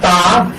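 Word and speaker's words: تاء: দান দান দান দান দান এরপর হরফটা হলো তা। চিকন হবে, শ্বাস টান থাকবে, মাকরাজ 11 অনুযায়ী হরফটাকে উচ্চারণ করতে হবে।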